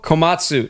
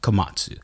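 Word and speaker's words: Komatsu: happening right now I I oo Io Io kamasu kamatsu that's right kamatsu now is it IO or AO AO kamu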